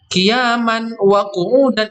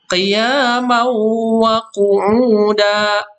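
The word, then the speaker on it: قِيَامًا وَقُعُودًا: Bacanya bukan qiyaman wa qu'udan, bukan qiyaman, tapi bacanya adalah qiyamau wa qu'uda, ya. Mauwa, ya.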